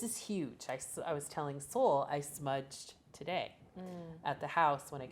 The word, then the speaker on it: Soule: spelled s-o-u-l-e-f-u-l right because my last name is Seoul s-o-u-l-e and that's also what